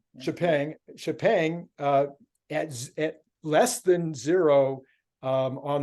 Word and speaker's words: Xpeng: How do you pronounce their name? Xpeng.